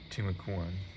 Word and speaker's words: Timucuan: Okay, so I did say it wrong earlier. This actually says how to pronounce it. Timucuan.